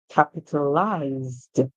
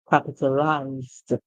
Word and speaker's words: capitalized: the word is capitalize we add the D song now just like we did for realize as you see the end the same ending so which means the rhyme so capitalized capitalized what does it mean